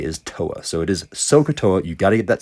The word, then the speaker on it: SOHCAHTOA: SOHCAHTOA is how I pronounce this, and you need to pronounce it the same way as me, because you'll see very quickly here, S stands for sine, and it is opposite divided by hypotenuse. You don't pronounce this thing SOA, right? That would be OA, and that would be incorrect. It's so.